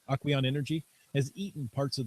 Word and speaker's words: Aquion: Aquion Aquion is how I would pronounce that. Aquion Energy has eaten parts of the saltwater-based battery and lived to tell the tale.